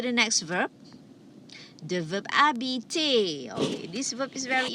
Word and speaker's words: habiter: Please remember, the H is silent, so you don't say habiter, you say habiter, to live or to stay.